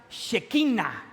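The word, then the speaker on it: שכינה: La gloria de Dios en hebreo se pronuncia shekina a ver Pueden repetir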